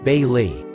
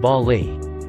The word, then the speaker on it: Bayley: name here let's say my name is bayley pronounced bailly pretty straightforward right well this teacher always always pronounced it bali it hurt cause i